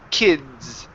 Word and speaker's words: kids: kids okay all right so it's almost coming off like a like a like the word kiss okay so when we pronounce that that that D sound okay the D and the S together okay you need to create a vibration in your throat because the D is a voiced sound okay so when I